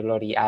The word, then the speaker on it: gloriae: se escriben en latín se escribe Gloria a él y se pronuncia Gloria si ponen eso en